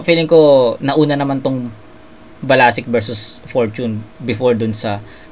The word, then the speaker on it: BLSCK: Si B L S C. Pronunciation niya doon balasic.